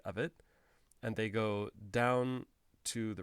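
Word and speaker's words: ご: then here as well for k if i add ten ten to k i go from ko to go go so the vowel never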